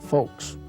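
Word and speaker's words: Fooks: Mr BT folks it's it's not spelled the way it sounds it's f-o-o-k-s but it's pronounced folks it seems that Mr folks was running a gasoline station downtown Camden in 1926.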